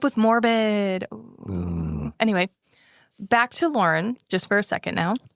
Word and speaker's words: Lorin: I keep thinking of like Lorne Michaels to remember that it's a boy not a girl. Even though it's spelled differently.